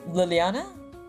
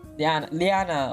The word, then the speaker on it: Liana: No, not Luciana, it was Liliana? Liana, okay, I added an extra like syllable.